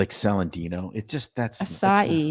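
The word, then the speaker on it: açaí: It just that's acai. not right. Do you know how to say acai? Acai. What? Acai.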